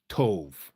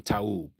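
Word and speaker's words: טוב: Tov. Okay, Tov. T-O-V. T-O-V. There's no O and there's no V in Taub.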